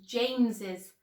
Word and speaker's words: James's: And so we would actually pronounce it as James's house. Now, please be careful.